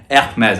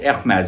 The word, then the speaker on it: Hermès: Hermes. I keep saying the wrong. It's Hermes, but how many times are we going to pronounce it the French way?